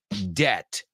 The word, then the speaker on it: debt: see how she did bet rhymes with debt absolutely it's a good way to remember it I bet I bet he doesn't have any debt that b is totally silent in there totally silent right debt